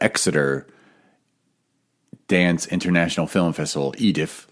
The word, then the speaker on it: EDIF: Dance International Film Festival, EDIF, like it's your Edith, like a British accent, like lower class British saying Aunt Edith, Edith.